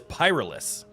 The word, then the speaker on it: pyrolysis: I don't know how to pronounce it. The verb describing the process of pyrolysis. Okay, so it is pyrolis, aka turning a less burnable uh material into a more burnable material.